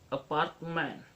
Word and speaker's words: apartment: For example, apartment. A is unstressed, part is stress, man is under stress.